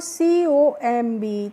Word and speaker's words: comb: एक रूल समझना है, जब भी किसी वर्ड में बच्चों M के बाद B आएगा तो आपको यहाँ पे B का प्रोनाउंसिएशन नहीं करना होगा, यानी कि हमें B को नहीं पढ़ना होता है।